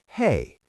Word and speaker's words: Hei: Another one is Hei, which sounds just like the English "Hey."